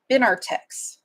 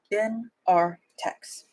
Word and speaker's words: Benartex: Some of this is, I realize that I'm saying this name wrong. Benartex. I have been saying it wrong for years. Benartex.